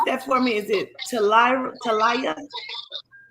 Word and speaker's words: Latyma: This is Soul Connections, and can you pronounce that for me? Is it Talaya? Talaya. Talaya.